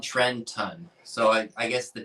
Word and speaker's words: Trenton: If you're from South Jersey, skip the T. That's right, Justine. Trenton. Trenton.